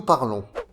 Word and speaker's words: parlons: Pour le sujet nous, la terminaison est ONS et se prononce on. C'est un son nasal.